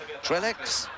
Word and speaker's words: Trellex: Trellex, the Trellex are coming in with a stick of dynamite. We're calling him Trellex, but of course you French buffs will know that the correct pronunciation is Trelle.